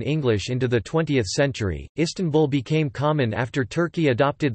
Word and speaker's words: İstanbul: As the Turkish alphabet distinguishes between a dotted and dotless I in English, the stress is on the first or last syllable, but in Turkish it is on the second syllable, tan.